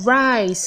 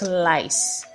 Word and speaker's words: rice: It is rice and not lice.